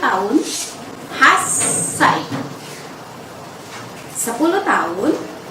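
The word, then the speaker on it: 八歳: 8 adalah hachi, sedangkan ketika diterapkan untuk usia menjadi hassai.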